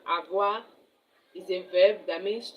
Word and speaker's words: avoir: Avoir to have. So, this is the second verb that is very vital in French. Avoir. Avoir A V O I R A V O I R avoir is a verb that means to have.